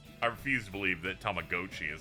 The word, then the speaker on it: Tamagotchi: The way they said Tamagotchi upset me.